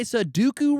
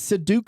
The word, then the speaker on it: Sudoku: You say Sudoku wrong. It's Sudoku.